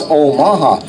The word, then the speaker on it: Omaha: heard of Omaha okay what's the same thing but the proper pronunciation is Omaha they do a style